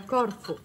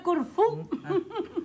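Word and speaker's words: Corfù: Il mio è a Corfu. Signora Doway. Perdonate, signora Haggerty, ma credo che si debba pronunciare Corfu.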